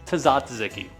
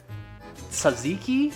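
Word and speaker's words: tzatziki: Tazatziki. Okay. In reality, I actually know it's pronounced Saziki, right?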